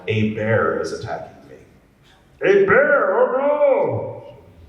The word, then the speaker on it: Hebert: last name is pronounced a bear like a bear is attacking me a bear oh no h is silent E's like an A T is silent blame the French I don't know if